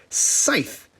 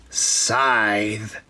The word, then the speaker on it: Scythe: pet peeve of mine this game is called scythe but so many people i think it's a regional thing pronounce this word scythe that ain't it it's psy scythe here's part two of